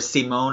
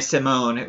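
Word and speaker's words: Simón: and a lot more or C Mon as it probably should be pronounced but I am gonna train up unnai Simone I do want him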